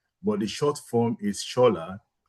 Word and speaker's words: Shola: the short form is schol. Yeah. Which takes off the olu. Yeah. And it's spelled s o l but it's pronounced as s h o l just to make it